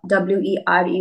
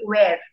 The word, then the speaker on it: were: have much problem with tenses uh and uh pronunciation some of the words like were w e r e were asked a ke e d asked and